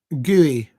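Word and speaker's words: Gueye: Uh Tony Harrington is the referee today and he's deemed that one of them um um Gooey Gooey is how you pronounce.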